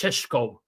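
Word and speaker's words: Šeško: Robo, it's pronounced sheshko. It's actually like really simple.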